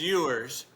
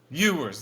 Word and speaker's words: Ewers: think it's yours. Ewers, that's it.